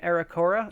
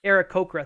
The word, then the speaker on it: Aarakocra: All run by an Aracora, I think is how you say them. I might be saying that wrong, but it's a bird person. Aarakocra, thank you.